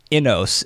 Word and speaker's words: inos: and it's this term inos is that pronounced correctly yeah like in know uh short for Innovation yeah I I um